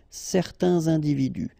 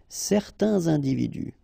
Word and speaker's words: certains individus: Individu, plural, starting with a vowel, you make the liaison. Certains individus. Certains individus.